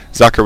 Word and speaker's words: Socke: Socke, which means sock in German, but in fact is not pronounced sock.